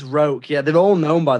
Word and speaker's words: Roque: I think it's Roke, yeah, they're all known by their surnames. I think it's Roke, but it's spelt like Roque, so R-O-Q-U-E, I think.